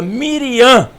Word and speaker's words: Miriam: é não é Brian e o assento é na última sílaba Miriam era Miriam que era